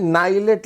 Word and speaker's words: NIELIT: भैया ये क्या है, नाइलेट लिखा हुआ है। कुछ लोग कुछ लोग निलिट भी बोलते हैं।